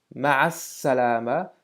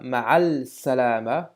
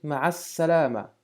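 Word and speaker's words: مع السلامة: qui veut dire avec, ma'as salama, on a donc maintenant cette nouvelle règle qui nous dit que devant certaines lettres, le lam de l'article n'est plus prononcé, mais en plus on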